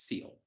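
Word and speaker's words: Sil: I was like, okay, all right, and it's spelled S-I-L, and I was like, oh, like so it's like Sylvester? No, he's like, it's Seal.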